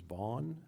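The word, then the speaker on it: Vaughn: in excuse me initially said your name was Von was that right and how do you spell that just for the sake of the record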